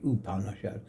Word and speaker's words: Upanishad: But those books, especially one in that group called it Katha, K-A-T-H-A, Upanishad. It's pronounced U, not up.